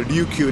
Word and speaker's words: Ryukyu: The Luchu or the Ryukyu, depending on the Chinese or Japanese pronunciation.